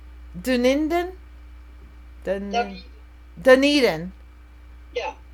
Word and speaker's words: Dunedin: never say it right Doon indan the knee Dunedin yeah Dunedin okay yeah that's where my daughter is hi